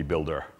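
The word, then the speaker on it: Buildah: way the Boston accent if that was Bui LD a the way I would pronounce it would be builder okay so Bostonians replace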